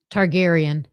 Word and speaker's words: Targaryen: I'll never be able to How do you pronounce this, Kim? Oh, Daenerys. Daenerys. And the last part. Targaryen.